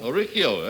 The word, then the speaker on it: Oricchio: I hope I pronounced that right. Is that right? Did I pronounce that right? Oricchio. Oricchio, that's right.